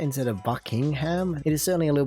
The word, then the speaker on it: Buckingham: you know it's just buckingham instead of bucking ham at the end it's not ham at the end it's just all one word and that lovely brown